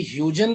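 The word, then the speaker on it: Huygens: एक मजे की बात बताता हूँ, एक्चुअली ये एक डच साइंटिस्ट थे और इनके नाम में ये जो UY है इसका प्रोनाउंसिएशन औ है, औ। तो डच की भाषा में अगर आप इसको पढ़ोगे तो उसको आपको आउ पढ़ना पड़ेगा, जो अपने बस की बात है नहीं।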